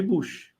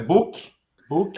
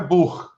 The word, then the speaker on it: Buch: É book, É book. né? Com a pronúncia como se fosse um K. A pronúncia original é Buch, né?